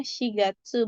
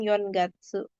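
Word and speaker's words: 四月: Kalau misalnya penggunaannya untuk angka yang menggunakan C itu contohnya di bulan bulan 4 ya bulan April itu kita pakainya shigatsu bukan yongatsu.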